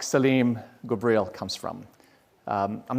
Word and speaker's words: Saleem Ghubril: not sure why but some folks have a hard time pronouncing it i think it's an easy name to pronounce so i've had people not not jokingly but thinking for real that's my name call me salami or or slime i don't find that